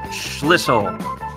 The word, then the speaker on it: Schlissel: Schlissel. Hello. And I'm patting myself on the back because I said it right. I got the L in there.